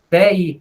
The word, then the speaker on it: velho: Professora, eu fui verificar, velho. Velho. Véi, não pronuncia o L.